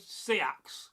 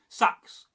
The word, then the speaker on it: seax: And maybe the real truth is this, there isn't one correct way to say it because there never was. So, now, I'm curious. How do you say the word seax, sax, or suax?